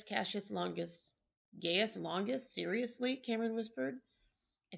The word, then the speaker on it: Gaius: Julius Caesar, Marcus Brutus, Gaius Cassius Longus. Gaius Longus? Seriously? Cameron whispered. I think it's pronounced Gaius, moron, I heard Amanda Shockey say.